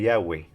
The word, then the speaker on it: Yahweh: después este ofreció su argumento a favor de Yahweh como la pronunciación correcta y original.